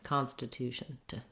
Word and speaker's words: Constitution: is sound Constitution Constitution you just want to go as quickly as you can from your sh to your n Sound shun shun very light and very reduced vowel you may also want